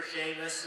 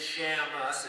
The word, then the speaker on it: Shamus: As I said before, my name is Shamus. A lot of people can mistake it for Shamus or other things, but it is Shamus. It's spelled S-H-A-M-U-S.